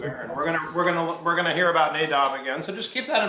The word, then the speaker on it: Nadab: It's not pronounced, I have no idea. That's right. Nadab.